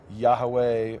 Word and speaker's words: Yahweh: Hebrew is yod V which some pronounce as Yahweh or yve I pronounce it as yahovah for various uh textual reasons um but it's very clear that those are the letters yud V whether you pronounce it as Yahweh or yahovah or other variations of that that the letters are